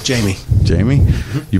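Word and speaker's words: Jaime: It's Jamie. Jamie? Mm-hmm. You pronounce the E?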